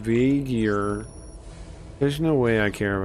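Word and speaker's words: V'Ger: all of Star Trek it's pronounced vagar there's no way I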